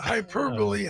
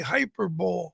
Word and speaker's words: hyperbole: Well, I I mean I once subbed in an English class and I I I pronounced uh hyperbole hyperbowl. So, well, that's the way it's spelled.